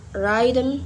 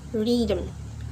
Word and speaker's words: rhythm: And rhythm, not rhythm but rhythm. Next letter is letter I.